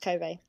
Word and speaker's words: Kobe: doing the cope kobe i think it's pronounced kobe the kobe child murders oh i i pronounced it as kobe you know like kobe bryant kobe yeah okay yeah i mean kobe it's a place in japan if you know you